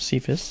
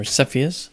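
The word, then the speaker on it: Cepheus: It's in the cifus sephus or sephiius depending how you pronounce it if you wish.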